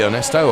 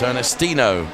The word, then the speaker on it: Ernestino: now there is ernestino sorry Ernesto I've been calling your name wrong it's ernestino my humble apologies to